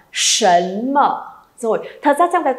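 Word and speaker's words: 什么: S ư đừng có ai đọc là sẩm ma hay là sẩm mơ nhá, không có sẩm sẩm gì đâu. Sấn mở.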